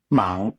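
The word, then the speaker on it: mang: How is it pronounced? M. Mong m a n g.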